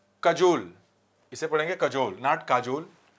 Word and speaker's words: काजोल: तो अजय देवगन काजोल की चापलूसी करते हैं। इसका प्रोनाउंसिएशन है कजोल, लेकिन आपको याद करना आसान हो इसलिए मैंने उसको बना दिया काजोल।